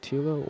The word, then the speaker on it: Tilo: I think it's Coco Tilo. Coco Yep. Tilo. That was their coach's pronunciation when I checked before the game.